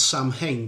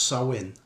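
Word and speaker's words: Samhain: a thing called um well it it reads Sam hang but it's pronounced sawin okay which was a a Celtic Pagan festival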